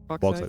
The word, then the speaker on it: bauxite: Bauxite. Because I don't want to go like over French because that's prejudicial as fuck. So just bauxite.